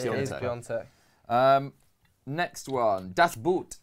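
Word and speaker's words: Piątek: England will win the World Cup, says it's Piatek, not Piontek. You're actually wrong. It is Piontek. Yeah. I was wrong for months, but I got told it's It actually is Piontek.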